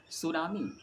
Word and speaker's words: tsunami: सुनामी जिसे English में टी से इसकी शुरुआत होती है। सुनामी लेकिन स्टार्ट टी से होती है जो साइलेंट रहते हैं टी और यह एक जापानी शब्द है।